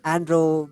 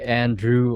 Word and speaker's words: Andro: correctly the first time a lot of people say Andrew or something else but yeah you you